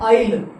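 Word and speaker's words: aisle: जैसे क्या हुआ, आइडल, आइडल, ऐसे ही आइटम, आइटम, इसको हम पढ़ते हैं आइल। आगे भी एक्सरसाइज में ये वर्ड आएगा, इसमें एस होता है साइलेंट, तो इसको हम पढ़ते हैं आइल, तो ऐसे लिखा जाएगा, ठीक है।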